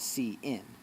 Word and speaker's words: cin: used for the input CIN CIN pronounced see in electronics where is the